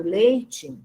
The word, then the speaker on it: leite: Eu pronuncio o E, a representação da vogal E final, como I. Então, eu digo leite, certo? Mas a representação do fonema desse som I no final da palavra leite é a letra E, tá vendo?